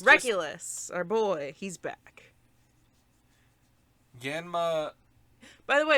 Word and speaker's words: Yanma: our boy he's back yanma by the way apparently we've been saying his name wrong the whole time yma it's yanma y a n m a yma yanma they really enunciate it so I wonder